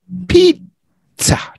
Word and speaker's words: pizza: In Italian, the S's sound like Z's and the Z's sound like TS in Italian. So that's why this one is, I hope I got that right. The food is called pizza, pizza.